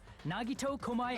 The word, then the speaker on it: Nagito Komaeda: The person who actually arranged this incident was the victim, Nagito Komaeda.